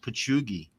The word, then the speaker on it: Patchogue: Remember, Patty, I think it's pronounced Pachugi.